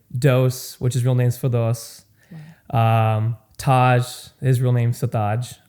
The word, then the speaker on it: Firdose: real name's Firdose.